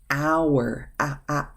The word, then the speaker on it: hour: An hour, hour. The H is silent.